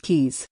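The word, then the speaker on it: Caius: for a research fellowship at GaN Volyn Kees pronounced Kees College I was hoping that Jane would type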